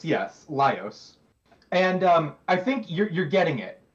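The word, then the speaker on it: Laios: Okay, his name is Lios. Yes, Lios. And um I think you're you're getting it. You're absolutely getting it. Imagine if Lios was a girl. And then imagine if even beyond that, Lios also was way hornier.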